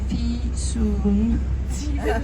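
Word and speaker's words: Fisun: i s u n the easiest way to memorize my name is by saying to yourself I have to pay my fee soon soon it should be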